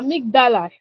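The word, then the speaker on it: amygdala: A amigdala that's the pronunciation.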